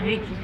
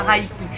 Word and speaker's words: Reiki: massage et en plus on prononce ça Reiki, non pas Reiki.